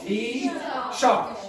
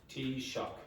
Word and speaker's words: Taoiseach: Tea shock. Okay. So this is the pronunciation, or close anyway. Close. Tea shock.